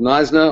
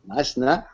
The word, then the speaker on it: Knysna: I am a blogger and advocate for responsible tourism from a little town called Knysna on the south coast of the Western Cape